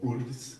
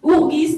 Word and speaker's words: UFRGS: région donc c'est l'ufrgs qui se prononce pas tout à fait comme ça je crois ah oui chez nous d'habitude un pour TR règles on appelle jusque ourgis ourgis donc si vous en on